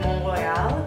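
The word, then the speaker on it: Mont-Royal: have to say that mon Royale which looks like Mont Royal if you spell it out that was probably my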